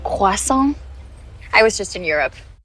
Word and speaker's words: croissant: It's actually pronounced croissant.